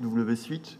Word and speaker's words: WSuite: Une qui est du travail collaboratif, WSuite, donc qui est une alternative à Google Suite. Vous avez noté que ça ne s'écrit pas pareil, mais ça se prononce pareil.